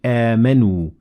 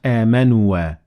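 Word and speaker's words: آمَنُوا: So we say amanu, not amanua.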